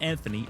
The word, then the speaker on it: Anthony: Anthony, not Anthony, Anthony. That's how it's spelled.